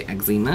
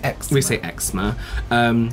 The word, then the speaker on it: eczema: Do you know Americans say eczema? We say eczema. Or eczema. Eczema.